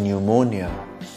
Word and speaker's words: pneumonia: o as in people P as in pneumonia q as in racket